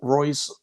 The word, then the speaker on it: Royce: Jiu-Jitsu he's talking about in Portuguese R is pronounced H so it's hoist Gracie and henzo Gracie